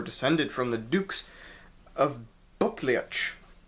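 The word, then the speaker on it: Buccleuch: from the dukes of buklic and that's spelled b-u-c-c-l-e-u-c-h because english people have crazy names but the actual founder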